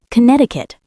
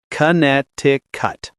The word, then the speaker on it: Connecticut: Connecticut. Tricky spelling, but the C in the middle is silent. It's kinetic cut.